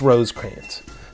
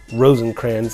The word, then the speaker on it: Rosecrans: with william rosecrans and yes it's rosecrans not rosencrans like i often mispronounce but rosecrans anyways general rosecrans was